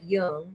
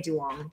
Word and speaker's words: Duong: One has a slash, one doesn't, and it sounds like Young. It's okay. So, but when I say it to American people, like it's easier to just say Duong. Duong. So they can spell it out. You're saying it wrong. It's young. That's terrible.